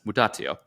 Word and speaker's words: mutatio: And so speaking of change, if you're wondering what the Latin translation of this, it's pronounced as mutatio.